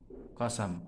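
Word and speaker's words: قسم: Qasam dibaca fathah. Nah, di sini bi fathis sin. Oke, dibaca fathah sinnya qasam.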